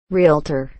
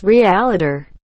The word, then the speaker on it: realtor: not levios a a realtor it's not pronounced realiter there's nothing between the l and the t it's by accident not